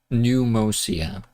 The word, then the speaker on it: Pneumousia: Yeah, it's Pneumia, right? P is silent. Pneumousia.